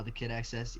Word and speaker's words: thekidxs: if you support me that's how i pronounce that that's how you pronounce your name right uh the kid access yeah okay okay that's